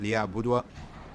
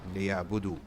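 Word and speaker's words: ليعبدوا: So it's not liya'budwa, liya'budu. Okay, it's silent. When you see this, don't pronounce it.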